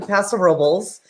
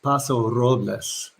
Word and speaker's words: Paso Robles: days of my life we went up to paso robles and we did wineries and we had a